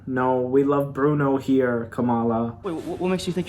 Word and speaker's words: Kamala: loved what an icon good morning camilla this morning actually let me need to tell you for years my name's pronounced kamala wow i'm proud of